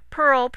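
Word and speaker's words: PIHRL: mckin School of Law Pearl pronounced Pearl how did you think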